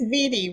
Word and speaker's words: Viti: It's Viti, rhymes with sweetie or ziti.